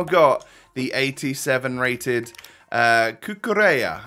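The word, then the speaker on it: Cucurella: the 87 rated uh kukureya i think is how you pronounce his name that's what people have been telling me anyway uh but welcome to the club 87 rated kookarea uh and i'm not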